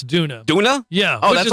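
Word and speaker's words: Doona: A popular baby car seat made by Donna, which purchased for $200 less than the original. It's Duna.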